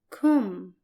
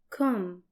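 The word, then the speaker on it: كم: your for masculine and it's pronounced in Arabic as com com the way it's written you combine the letters Ka plus Ma here is an example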